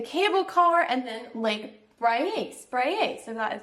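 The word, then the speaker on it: Braies: gonna do the cable car, and then Lake Spraye, so that is how you say it.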